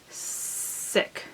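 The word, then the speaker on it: Szyk: It's this lovely Andersen's Fairy Tales, illustrated by Arthur Sick. That's how I'm going to pronounce that.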